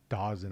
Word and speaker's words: Dawson: It's Dawson. I know they want to say Dazon. It's spelled Dawson.